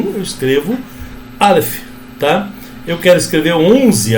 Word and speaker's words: Aleph: O Aleph não tem som, então essa sílaba aqui é A, um A mais acentuado, mais forte, tá?